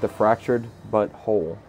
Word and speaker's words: The Fractured But Whole: this is South Park: The Fractured But Whole. And it's not butthole, it's butthole. How it's spelled is B-U... Butthole. No, B-U-T space W-H-O-L-E. but it's South Park: The Fractured But Whole.